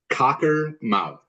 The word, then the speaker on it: Cockermouth: of that town again it sounds exactly it's spelled exactly as it sounds Cocker mouth one word talker mouth um I